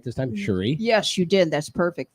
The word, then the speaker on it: Cherie: ah Sheree's gonna be with us did I pronounce it right this time Cherie yes you did that's perfect thank you curry